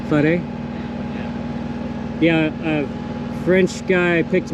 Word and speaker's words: Fare: I was happy at Fair. How you say? Fari? Is that how you guys say? Fare.